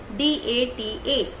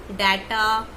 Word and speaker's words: data: So you have to pronounce it as certificate. Now our last word is D-A-T-A. Mostly people call it data, data.